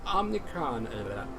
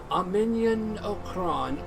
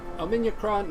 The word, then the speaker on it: Omniacron: Feel free to go to the Omnicron... how do you say it? Omniacron Library. Yeah, that's it. Omniacron Library.